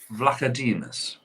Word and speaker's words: Vlachodimos: I can't pronounce his name. What club? Benfica. Vlachodimos.